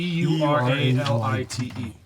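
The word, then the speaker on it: Euralite: E U R A L I T E. Yeah. What? Ura as in Eureka light.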